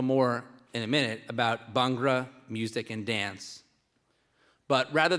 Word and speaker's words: Bhangra: That's Bhangra. Or Bhangra is actually the more correct way.